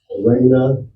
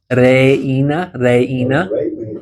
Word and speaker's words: reina: Bailar, reina. Yep. Yeah, so you pronounce each of those vowels separately as well.